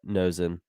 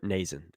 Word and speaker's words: Nason: rather rather than uh nosing and or Nason excuse me I think we're all